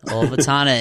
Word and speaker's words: Ulvetanna: the Troll Wall, and the South Ridge of Ulvetanna. Did I pronounce that right, Andy? Yeah, that's right, yeah. Ulvetanna in Antarctica.